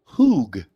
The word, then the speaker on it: Hug: i'm just hearing that nikki hug is pronounced hoog oh right yeah so